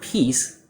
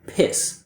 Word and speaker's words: peace: So instead of peace, I hear piss, which is kind of a more vulgar way to say urinate.